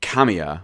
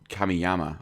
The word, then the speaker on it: Kamiya: game designer Hideki Kent I always get his name wrong Hideki Kamiya I always call him come kameyama I don't even remember